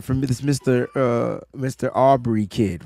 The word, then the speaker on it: Aubrey: really good explanation from this Mr uh Mr Aubrey kid right right that's how you say his name yes Aubrey that's correct okay so let's talk about this